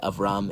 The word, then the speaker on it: Avram: B's and V's in Hebrew are kind of interchangeable. So if you see a V, it could either be pronounced as a V or it can be pronounced as a B. So it's Avram or Abram.